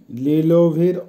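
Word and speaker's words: лиловый: লিলোভি, লিলোভির অর্থ হবে বেগুনি, উচ্চারণ হবে লিলোভি।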